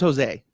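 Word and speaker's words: José: His name's Jose, but that's neither here nor there. I won't do the Hosey. Americans can't pronounce his name right.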